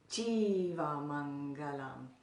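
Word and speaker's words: jīva maṅgalam: Mangalam Jagat Mangalam and the next one has a long e that first letter that first vowel is long so that would be Jeeva Mangalam Mangalam in the next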